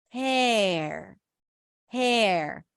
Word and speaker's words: hair: and then we have hair hair it's kind of like you're taking the H and the r that are connected for her and you're stretching them out and you're creating space for a vowel her hair her hair